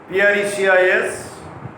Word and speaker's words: precis: Last but not least, Precis is a French word, Precis. So, the last letter S remains inarticulated or unpronounced because it is the French word, and in the case